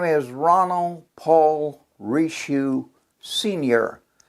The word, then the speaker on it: Richoux: please introduce yourself what is your name and spell it for the audience please my name is ronald paul rishu senior it's r-o-n-l-d ronald paul p-a-u-l rishu is